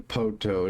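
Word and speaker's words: Poteau: It's supposed to be Poto.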